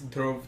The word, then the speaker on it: Dhruv: the thing is so my name is based on the pulse jar and we told you this yeah yeah so it's drove tara tara is a star so basically everyone can